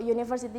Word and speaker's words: university: Contohnya kayak, misal kayak university itu kan huruf depannya U, tapi kan dibacanya U kan, W-O-U, university.